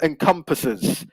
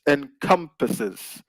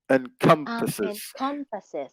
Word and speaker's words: encompasses: indeed yeah so um it's on the second syllable so it's encompasses encompasses exactly so really nice